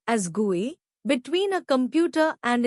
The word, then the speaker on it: GUI: Windows is a graphical user interface, GUI pronounced as GUI, between a computer and its user.